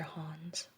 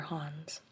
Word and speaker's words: hands: atoms you've got your hans your hans don't really pronounce the d and instead of han